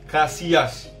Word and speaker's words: Casillas: Nah, ini huruf C sekarang agak tricky karena tulisannya C pengucapannya, tapi kita ganti jadi K. Kebanyakan contohnya ada yang terkenal banget, Casillas.